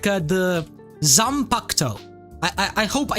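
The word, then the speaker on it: Zanpakutō: Like the Zampacto. I hope I said it right. I used to call it the Zampakuto, and everyone was flaming me in the comments.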